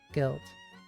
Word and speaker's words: gilt: Ruth looked at the sturdy red book with its tarnished gilt. Oh my god. Tarnished gilt title embossed on the cover. G-I-L-T. Gilt. Gilt? Yeah, it's gilt, it's the pronunciation's weird.